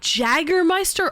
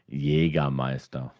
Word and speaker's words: Jägermeister: Is it Jägermeister or Jaeger? Yeah, if you want to call or spell it in German, Yeah. you call it Jägermeister.